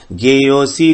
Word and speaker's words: ज्ञेयोऽसि: देहेस्मिन् मधुसूदन प्रयाण काले च कथम ज्ञेयोऽसि, ज्ञेयोऽसि नहीं कहेंगे। यहां पर अ अलग से नहीं बोलेंगे, वो साइलेंट है। ज्ञेयोऽसि नियतात्मभिः।